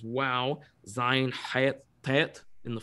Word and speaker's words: Vav: Hey, wow, Vav is pronounced as wow.